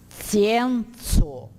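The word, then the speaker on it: scienco: Scienzo. Porque cada vogal, cada sílaba é pronunciada separadamente.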